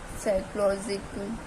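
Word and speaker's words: psychology: silent कब होता है यदि पी के बाद एस आ जाए तो जो हमारा पी है वो साइलेंट हो जाता है ठीक है जैसे कि फिजिकली फिजिकली साइकोलॉजिक फिजिकली तो तो हमारा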